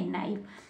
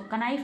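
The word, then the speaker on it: KNIFE: एन से start करेंगे पढ़ना तो क्या पढ़ेंगे, नाइफ। नाइफ मीन्स चाकू। आपने देखा होगा जब हम चाकू को बोलते हैं तो कनाइफ नहीं बोलते, नाइफ बोलते हैं, है ना, के साइलेंट रहता है।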